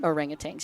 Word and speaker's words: orangutan: That's how they say it here. Really? Orangutang. Yeah. Orangutang here.